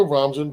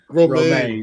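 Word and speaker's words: Romijn: And Rebecca Ramjan played her in a very, like, in a manner that you feel. Go ahead and say it, Sam. It's not Ramjan. How do you pronounce it? Romaine. Romaine.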